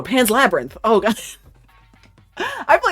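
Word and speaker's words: Pan's Labyrinth: Pans Lebranth. It's Pans Labrinth, right? No, Pans Labyrinth.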